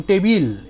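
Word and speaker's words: টেবিল: apple it's pronounced apeil a table in english became tabil in bengali because joined consonants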